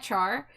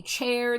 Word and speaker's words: Char: Uh my name my name Char. You will not believe how many ways people have pronounced it. They call me chair. They call me car. They call me uh.